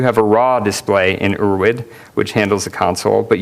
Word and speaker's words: Urwid: curses does well differently we're witness pronounced or wid it's German for ancestral so it's basically ancestral